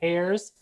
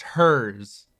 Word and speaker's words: Herr's: an opportunity to buy hairs, that's H E R R P. I believe it's pronounced hers.